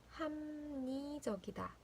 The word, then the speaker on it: 합리적이다: 발음은 합리적이다, 합리적이다.